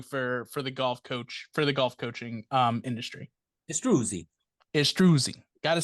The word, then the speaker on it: Istruzi: Istruzi. Got to say it correctly. Istruzi.